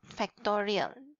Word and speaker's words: factorial: Tanda seru, it's pronounced as factorial.